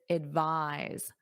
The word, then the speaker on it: advise: The noun is advice. Advice. The verb is advise. V. Notice that voice.